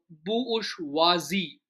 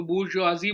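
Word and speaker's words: bourgeoisie: उसको प्रोनाउंस बड़े अजीब तरीके से करते हैं। अ बुशवाजी बुशवाजी बोलते हैं बुशवाजी।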